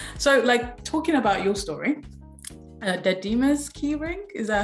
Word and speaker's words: Dadima: Dadima's keyring, is that how to say the name?